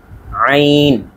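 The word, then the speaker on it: ع: তারপরের উচ্চারণটি আমরা লক্ষ্য করি আইন আইন আইন। একেবারে গলার মাঝখান থেকে ভেতর থেকে বলতে হবে চাপ দিয়ে, আইন আইন আইন এই অংশটি।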